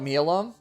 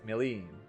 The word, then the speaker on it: Milim: It's I call it Milam, and I think the Japanese pronunciation is Milam, but like the English dub pronounces it as Milim.